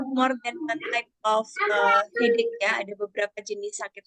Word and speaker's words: headache: Banyak yang bacanya masih salah ya, masih dibacanya headache gitu ya. Nah, padahal kita bacanya seolah-olah bunyi terakhirnya itu bunyi K, headache gitu ya, headache.